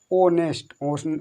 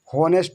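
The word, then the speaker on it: honest: तो इसको हो नहीं, हो नहीं, ओ नेस्ट, ओ नेस्ट माने ईमानदार, होनेस्ट नहीं, इसको होनेस्ट नहीं, ओनेस्ट, ओ नेस्ट, ओ नेस्ट, होनेस्ट नहीं पढ़ा जाएगा, इसको ऑनेस्ट पढ़ा जाएगा।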